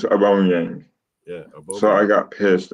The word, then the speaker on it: Aubameyang: and also, Tony says Aubameyang. That's not how you say it. It's Aubameyang.